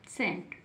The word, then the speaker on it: SCENT: उसी प्रकार से नेक्स्ट लिखा हुआ है, क्या लिखा हुआ है, सेंट, SCENT, क्या बन गया, सेंट, क्या बन गया, सेंट। क्यों, क्योंकि एस, सी से तुरंत पहले एस है तो सी को नहीं पढ़ेंगे, केवल एस के लिए